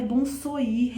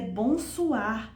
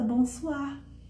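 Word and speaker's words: bonsoir: Não é bom soir, é bom soar. Ah, mas se escreve bom soir, né? Mas se fala bom suar, porque o com i tem som de o.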